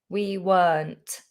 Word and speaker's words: weren't: The word weren't contains the letter R, but we don't pronounce it. Were, we weren't.